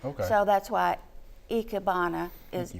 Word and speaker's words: Ikebana: - Ichiyo, in Japanese I's are pronounced like E's. So that's why Ikebana is eek-a-bana.